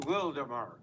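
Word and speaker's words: Wildomar: That's like the word wild oar pronounced wilddemar.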